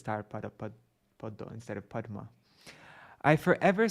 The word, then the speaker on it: padma: But in Bengali, in Bengali pronunciation, when there's a conjunct with words like, they don't say padma, they say poddo.